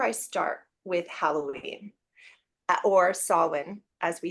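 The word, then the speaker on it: Samhain: so that's where I start with Halloween or soln as we say in the British traditional kind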